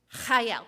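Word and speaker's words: חיל: Now, I'm only going to do it chayel the one time. So if Dave Pertola is here, chayel. That is how you say it, Dave Pertola.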